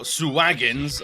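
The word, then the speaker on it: Sahuagin: Or Suwagins, as I learned from Baldur's Gate 3. Had no idea it's pronounced Suwagin.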